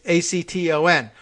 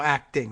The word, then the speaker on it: Acton: pronunciation you could say dr. Amy no acting no Acton would have been as needed so you say Acton is what I'm doing here okay oh and thank